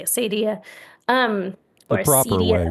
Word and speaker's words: acedia: So Acedia, Acadia, people have pronounced this different ways. I'm going to say Acedia.